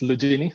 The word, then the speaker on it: Lugini: So my last name is pronounced Lugini, so you had it right, Professor Labrinez, the first try.